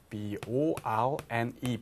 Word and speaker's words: borne: bear, bore 발음은 똑같은데 얘가 돼요. 얘가 B-O-R-N-E born 발음은 똑같아요.